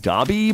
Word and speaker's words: daub: The way you say waddle and daub, it rhymes with waddle and bob. I don't know. People have told me it's supposed to be waddle and dobby, but I don't know.